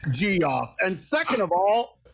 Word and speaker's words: Jeff: I can't help if freaking Jeff from Sunoco runs out. I didn't know. Okay, first of all, it's pronounced G-off.